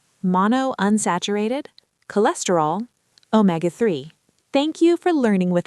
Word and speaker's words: omega-3: It's pronounced omega-3 with the stress on may.